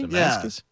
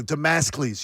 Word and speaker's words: Damocles: Damascus? Yeah. Wow. No, Damocles. You're going to have to look it up. Because I'm mispronouncing it, I'm sure.